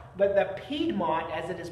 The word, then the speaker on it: Piedmont: these two different areas and the piedmont not piedmont but the piedmont as it is pronounced uh is looking at your area this